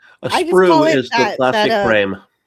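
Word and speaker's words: sprue: A sprew is the plastic frame.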